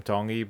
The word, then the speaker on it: Tongi: Tongi. You pronounce the T's like a D in the Tongi culture.